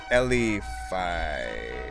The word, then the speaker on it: Elify: Pronounced L like the letter L. Elify.